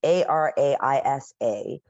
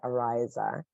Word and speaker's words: Ariza: Thank you, Araisa, but they pronounce it Ariza.